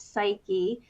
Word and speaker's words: Psyche: And just 2 or 3 days ago, this happened that a Web3 startup called Psyche, that's how they pronounce that, Psyche, that was actually started by Ralph Lauren and a former Burberry executive.